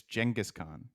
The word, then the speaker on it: Genghis Khan: Shannon, it's Genghis Khan. In American English, it's definitely Genghis, but I'm sure it's horribly mispronounced. Steve Curry as well.